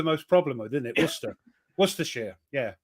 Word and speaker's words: Worcestershire: Don't worry, I'll tell you how to pronounce them. Apart from Shrewsbury, is it Shrewsbury or Worcestershire? Worcestershire. Yeah, that's the one you guys. That's the one you guys have the most problem with, isn't it? Worcestershire.